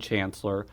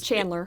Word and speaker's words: Chandler: ran against a gentleman Raymond Chancellor it was Chandler Chandler I'm I'm sorry Raymond Chandler I mispronounced your name and he had he